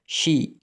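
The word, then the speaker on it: she: சில பேர் சி என்று உச்சரிப்பாங்க. சி அல்ல ஷி ஷி என்றா அவள்.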